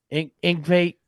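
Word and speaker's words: Yngwie: Ingve, okay, I'm not going to try not to.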